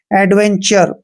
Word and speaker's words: adventure: तो इसको हम पढ़ते हैं, ए का उच्चारण क्या करते हैं, ए करते हैं। और डी को हमने डे पढ़ना है। VE का उच्चारण वे और ए की मात्रा करते हैं। एन को आधा ने और TURE का उच्चारण हमने चर करना है, एडवेंचर।